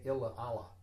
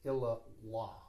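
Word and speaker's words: illā Allāh: Incidentally, when you have two A's, one after the other, you do not pronounce the second A. You do not say Illa Allah.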